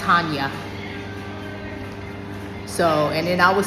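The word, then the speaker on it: Chania: I was saying Channia and it's pronounced ha.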